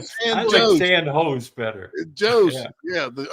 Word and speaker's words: San Jose: How do you say it? Santa Joe's. San Jose. San Jose. Jose. There ain't no H on there. That's a J.